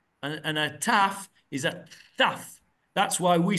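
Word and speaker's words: תו: And a Taf is a Thaf.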